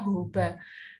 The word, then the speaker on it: jojoba: Seperti jenis-jenis minyak yang sering digunakan untuk wajah itu misalnya grapeseed oil atau sunflower oil, jojoba ya, nulisnya jojoba, bacanya jojoba.